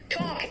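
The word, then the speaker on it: talk: इसे प्लीज आप क्या करोगे, बोलो क्या, इट्स बाम, पाम, पाम मतलब हथेली है ना, टॉक एल साइलेंट है, वॉक दान को कहते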